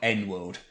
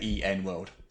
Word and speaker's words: EN World: exactly the initials Noah so it's e n world it's not n world because everything Lewis name was an N so yeah you actually say the actual letters out loud there e n world we just do one